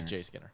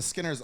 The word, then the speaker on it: Skinner: the back silent y you don't pronounce the J when you say his name just Skinner Skinner just it's just Skinner yeah you don't say J Skinner unlike the Joseph Brothers